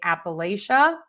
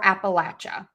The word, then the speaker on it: Appalachia: Um, so again, I hate to say one is correct, one isn't. There's variations regionally in the US. So, you can say Appalachia or Appalachia. And then Appalachian. I don't think I hear Appalachin. Maybe I do. Yeah. So, you can say that too. So, apa I'll teach you how I say it. Appalachia. Appalachia. And then Appalachin. Appalachin.